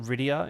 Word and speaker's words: Rydia: Rydia? Am I pronouncing that? Is it Rydia in Final Fantasy IV?